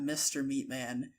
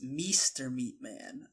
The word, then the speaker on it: mrmeatman: I didn't want to correct you, but all this time you've been saying it's not Mr. Meatman. It's Meester Meatman.